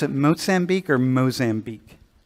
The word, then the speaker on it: Mozambique: Do you pronounce it Mozambique or Mozambique? Mozambique, but like if you're saying it in Spanish, it's like Mozambique.